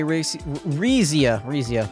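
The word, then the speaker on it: Rixia: Didn't you enter my apartment yesterday, Rizia, that's how you say it.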